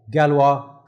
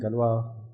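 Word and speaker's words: Galois: called as the uh galwa counter mode now this is spelled as g l o i s but I think this is like a French word so you say gal galwa or something like that I'm not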